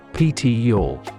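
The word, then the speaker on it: Pitillal: in the traditional Mexican community of pitol pronounced ptior you'll get a behind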